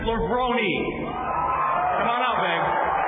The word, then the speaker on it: Levrone: a renaissance man and he says the correct pronunciation of his name is Kevin lebroni come on out babe